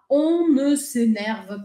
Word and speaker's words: on ne s'énerve: Ela meio que gruda essas três primeiras palavras. Ela não fala on ne s'énerve pas, mas ela pronuncia assim, ó, vou dar um foco aqui em mim.